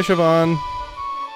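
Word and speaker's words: Siobhan: little while okay bye sioban but yeah I think that's it it's like show and then you have to put some extra emphasis on the VA so like VA Shan Irish is so interesting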